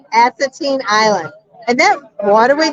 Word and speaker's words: Assateague: Assateague. Assateague Island.